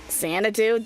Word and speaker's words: Xanadu: Xanadoo?